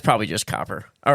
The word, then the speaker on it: Copper River: Cooper, right? Spell it real quick. Oh, Copper. It is Copper.